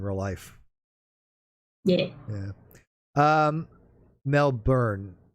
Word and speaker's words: Melbourne: life yeah yeah um mel byrne melbourne melbourne pronounced mel byrne see i i was told as melvin i don't know i